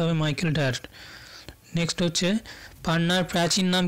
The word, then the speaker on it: ডায়ার: উচ্চারণটা হবে Michael ডায়ার।